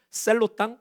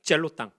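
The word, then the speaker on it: Zealot: 그리고 이 열심당이 또 다른 표현으로는 셀로 땅 혹은 젤로 땅. 영어 발음이기 때문에 셀로 땅이라고도 하고 젤로 땅이라고 하는 사람들이 등장하게 되는 거죠.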